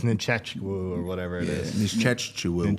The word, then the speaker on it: Nzechukwu: I'm going You got Kennedy the head that Nzechukwu.